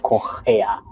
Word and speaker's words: Correa: So our R, it is similar to the age in American, I mean in English pronunciation. So yeah, so that's why we said Correa.